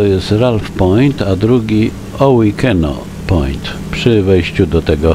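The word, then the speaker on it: Owikeno: Ralph Point a drugi o weekeno Point przy wejściu do tego Hardy in LED o weekeno to dosyć często występująca nazwa na tych terenach wymawiana jest także jako ohikino ołykano o weekenno a nazwa pochodzi od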